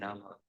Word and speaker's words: Rama: So it is not Ram, it is Rama.